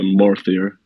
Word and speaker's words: MORTHIR: How do we pronounce the project's name? Okay, so MORTHIR. So yeah, MORTHIR.